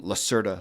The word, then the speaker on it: Lacerda: and then the letter L, and Lacerda, like lizard. Lizard A? Or Lacerda. Yeah. Okay. Lacerda.